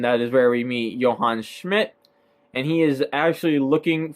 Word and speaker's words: Johann Schmidt: to a character by the name of a Johann Schmidt yes that is how you say it it